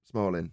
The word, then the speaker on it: Smolin: I've heard of him Smalling is how you say it yeah well there you